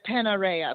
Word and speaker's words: Panarea: Teeny Sicilian island of paneria am I saying that right Dina how do you how do you pronounce that we can go with panarea but I'm sure they've heard words panarea okay I love it